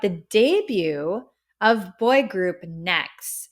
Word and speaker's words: NEXZ: debut of boy group Next it's spelled NE exz it's like next Generation it's supposed to symbolize